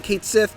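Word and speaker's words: Cait Sith: bit more detail and yes I'm saying Kate Sith because that's how they say it in the game don't come at me Kate Sith fights with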